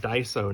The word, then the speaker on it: Daiso: If you happen to be lucky enough to have Daiso near you, D-A-I-S-O, I assume that's how it's pronounced, Daiso.